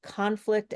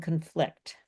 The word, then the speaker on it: conflict: So, the verbs are stressed on the second syllable. The nouns are stressed on the first syllable. I'll read you conflict and conflict.